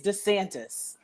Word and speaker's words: DeSantis: also y'all but please can you pronounce the shitty's name right it's desantis no i will not